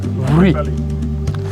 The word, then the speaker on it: Wli: You don't pronounce the W like W. And sometimes, you know, you kill the W and pronounce it like V. But no, it's Wli.